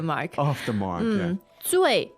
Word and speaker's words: 醉: 醉 fourth tone Yes.